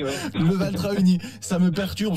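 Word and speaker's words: Leval-Trahegnies: qui nous vient de Leval-Trahenny, comme ça qu'on dit. Leval-Trahenny, ouais. Leval-Trahenny. Ça me perturbe ce H entre le A et le E, je savais pas trop. Oui, mais il ne se prononce pas.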